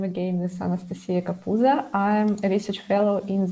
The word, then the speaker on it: Kapuza: Anastasia Kapuza?